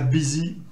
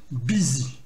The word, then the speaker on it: busy: Et enfin, attention à busy. Là, on prononce bien sûr comme un i. Donc, c'est bien busy. Et tous les dérivés de ce mot-là, le U va se prononcer comme un I.